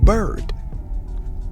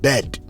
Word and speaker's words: bird: let's move on we have bird bird bird not bed I see the bed no no no no no no we need to hear the r bird bird great now